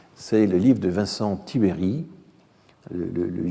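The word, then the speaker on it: Tiberj: tibéry le le le J est un i muet en roumain hein en roumain il y a des i muet comme il y a des e muet en français et donc ce i se prononce à peine donc c'est en fait Vincent tibéry et il s'est exprimé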